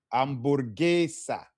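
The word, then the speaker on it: hamburguesa: It was remember what did we say about our hes? It's silent out like uh I'm Amorgis amborgesa amborgesa queso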